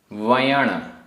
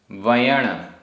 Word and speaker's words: वयण: उच्चारण। दुज्जन, दुज्जन आधा जा पूरा जा, दुज्जन। वयण, वयण।